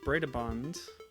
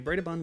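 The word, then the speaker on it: Brøderbund: Okay, so Gibbon says Bredabund, which I believe is how you pronounce the O with a line through it in the name of that particular American software house.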